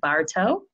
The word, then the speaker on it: Bartow: I have a very special guest with me, Bartow.